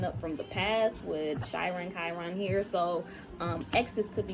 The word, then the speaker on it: Chiron: So I'm seeing the fifth house, and I'm seeing Chiron as, or Chiron. I know people pronounce that shit differently. I pronounce Chiron.